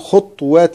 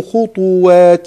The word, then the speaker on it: خطوات: ومثلها كلمة خطوات الشيطان، بعض الناس يسكن الطاء فيقول خطوات الشيطان، هذا خطأ صحيح. ولا تتبعوا خطوات الشيطان، سورة البقرة، ومثله في بقية السور.